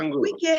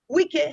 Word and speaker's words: Wike: Wike has said so. His name is not Wike. He said his name is Wike, and it is spelled W-I-K-E.